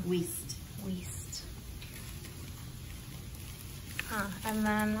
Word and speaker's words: Wiest: Wiest.